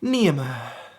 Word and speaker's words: Niamh: Niamh. Making sure you're sighing. You're sighing because you live in Ireland and you're very happy with that.